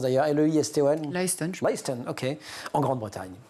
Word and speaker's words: Leiston: On est à Leiston, je ne sais pas comment on prononce d'ailleurs, L-E-I-S-T-O-N.